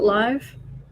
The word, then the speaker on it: LIV: liv roman 54 yes also live as liv isn't live uh an exhibition tournament with 54 holes yes so they do pronounce it live i'll just call it